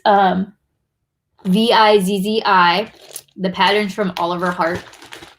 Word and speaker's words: Vizzi: So this is the Vizzy. Am I saying it right, Michelle? Vizzy? It's Vizzi.